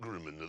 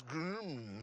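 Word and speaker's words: GRMN: It isn't Grimina, there's no at the end. It says Grim.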